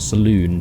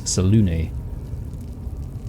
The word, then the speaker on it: Selûne: It's not Saloon, it's Selûne.